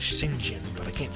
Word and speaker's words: St. John: Actually, I've heard the proper pronunciation of his last name is Shing Jin, but I can't say